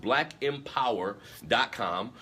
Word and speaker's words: blkmpwr.com: m p w r dot com it's it's pronounced black empower dot com on his website you can find books he